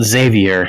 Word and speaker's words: Xavier: very well how about Xavier spelled with an X pronounced with a Z that would be quite acceptable she wrong that is the actual name though Xavier pronounced with an X